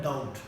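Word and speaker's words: doubt: करें बीटी की तो जब हम बी और टी एंड में यूज होते हैं तो इसमें जो होता है वो क्या साइलेंट होता है देखिए जरा हमारे पास वहां पर बी साइलेंट होता है जैसे हम बोलते हैं डाउट आप इसको डाउट नहीं बोल सकते इट विल बी रंग ओके इसी तरह हमारे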